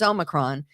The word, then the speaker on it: Omicron: It's Omicron. It's not any of the other variations that you hear, but that is apparently, along with Dogecoin, the three most mispronounced words: 1, 2, and 3.